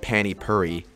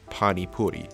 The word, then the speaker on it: pani puri: Also for this doodle, it's not pronounced Pani Puri, it's Pani Puri, so hopefully those are more accurate.